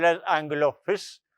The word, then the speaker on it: His: called as angle of fist. The spelling is h i s but it's not pronounced as his.